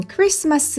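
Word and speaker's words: Christmas: 가 아닌 일을 꼭 적어주시기 바랍니다 이제 다음은 크리스마스 라는 단어를 영어로 한번 옮겨 보도록 할게요 조금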